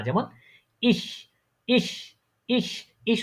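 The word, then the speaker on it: ich: যেমন ইস ইস ইস ইস উচ্চারণের সময় বাতাসটা ছাড়েন তো একটু।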